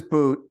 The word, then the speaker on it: Bout: face his name is boot it's pronounced it's it's b-o-u-t but it's it's pronounced like boot your b-o-o-t yes continue